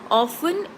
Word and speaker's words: often: far as I know often is pronounced with t as silent okay we don't pronounce